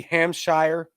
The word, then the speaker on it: Hampshire: began recording after amp hampshire hampshire my southern may be kicking in there uh i pronounced in hampshire i feel like the british way would be ham shire who knows hampshire police